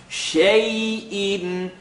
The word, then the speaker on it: شَيْءٍ: Shay'in. Commitment to the sound, double accent. Wait a minute. Alarm goes off. The next letter is an alif or a hamza. It's in the throat, so by default, tongue touches.